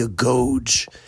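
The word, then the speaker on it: agoge: You went to something that was called the go and actually we pronounce it really here in English today the a goge.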